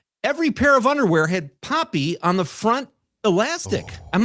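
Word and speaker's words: Papi: It was called Papy. P A P I which means father or dad in Spanish. Poppy.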